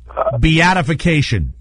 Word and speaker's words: beatification: Beatification.